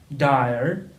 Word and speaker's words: dire: to the d d the pronunciation is a a bit strange dire and it means serious